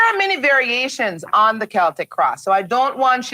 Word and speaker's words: Celtic: Many people mispronounce it and call it the Celtic cross. Well, Cleo's going to tell you it is called the Celtic cross.